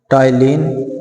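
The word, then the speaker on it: टायलिन: Number 1 टाइलिन P silent रखा जाता है इसमें, ये इसका नाम होगा टाइलिन।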